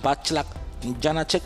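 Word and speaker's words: Václav Janáček: Ahí tenemos a Foxtrot Delta con el checo, que él nos dice que su nombre se pronuncia Backlap Janacek, pero de momento, como nos cuesta, lo dejamos en Backlap Janacek.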